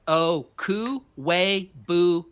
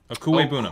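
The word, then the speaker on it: Okwuegbunam: Pronounced Okuibunam. I've had it. Okuibunam. Okuibunam.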